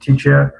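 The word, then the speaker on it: teacher: خب تیچر از دو هجای عبارت است. کلمه با پررنگ تیچر طرز خواندنش تیچر اما ری با پررنگ تلفظ نمی شود.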